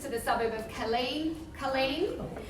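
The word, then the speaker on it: Kaleen: the suburb of Colleen Colleen I think I'm the only one that knows it's pronounced like that so we've got block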